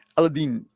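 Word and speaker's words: Aladdin: Aladin. That's the way of pronouncing it. Aladine. But you know, we're so used to this elean in the west because of Disney and jasmine summer breeze.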